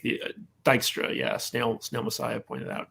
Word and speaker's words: Dijkstra: But he's kind of like the Dijkstra. Snail Messiah pointed out. Dijkstra is his name. Dijkstra. J is silent.